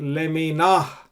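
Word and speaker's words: לְמִינָהּ: You pronounce it leminah.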